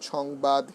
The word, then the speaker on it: সংবাদ: আমি আবার বলছি যে অনুস্বার, অনুস্বার যদি থাকে, অনুস্বার থাকলে পরে যদি এটি অনুস্বার হিসেবে কখনো ব্যবহৃত হয়, উচ্চারণ হয় না, এর উচ্চারণ হবে অং, অঙ্গের মতো উচ্চারণ হবে। যেমন সংবাদ, হিংসা, মাংস, বংশ, ধ্বংস,